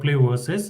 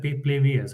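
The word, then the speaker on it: PlayVS: i never knew about play versus uh and i uh pronounced it at play vs i mean that was uh that was not so good but again it's good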